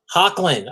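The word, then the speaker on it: Hoechlin: You know, like Cavill versus Tyler H, because I don't know how to pronounce his last name. I'm not. Hochelin? It's Hecklin. Hocklin.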